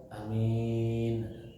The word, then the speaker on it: Amin: hukum apa-apa Amin ya Ada beberapa pengucapan amin Panjang Anya minnya panjang ada yang Amin tapi yang dianjurkan adalah a-nya panjang Amin a-nya panjang mimnya mimnya panjang Amin yang di apa namanya